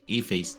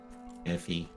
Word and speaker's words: Aoife: here, so I mean, Ife. Aoife. I think. It's actually the Irish goddess of song. So it's this Irish name. That's the reason why it looks so weird and just pronounced a different way.